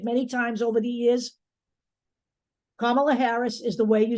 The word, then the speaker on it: Kamala Harris: make it obvious to you let's talk about Kamala Harris and that is the correct way to say